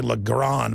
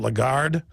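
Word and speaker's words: Lagarde: you pronounce her name I always say lron but it's a legard the point is is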